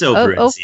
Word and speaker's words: Operencia: Am I pronouncing that? Is it Operencia or Operencia? It's Operencia.